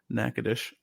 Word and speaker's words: Natchitoches: but you would not know that it's called Natchitoches. It's one of those that are spelled really weird.